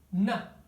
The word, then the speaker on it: to: é muito comum que a palavra to seja reduzida a um na, tá bom? Vou escrever aqui, na. É muito comum. Eu coloquei um A aqui, mas é como se fosse um N bem relaxado, tá bom?